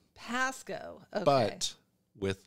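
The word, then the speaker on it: Pascoag: even that's too hard it's like the memory of a g is at the end Pasco like sort of like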